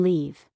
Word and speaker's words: leave: For example, the words live and leave. Live has a short I sound. Leave has a long e e sound.